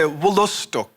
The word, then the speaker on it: Wolastoq: I wanted to ask you the proper pronunciation of Wolastok. Oh, no, it's pretty close, though. So we would say Wolostok.